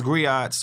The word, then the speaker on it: griot: We right, we as griots, we as community leaders, hold on. As griot? Black men, griots, you know good and well, can't put, first of all, that got three syllables in it. Griot.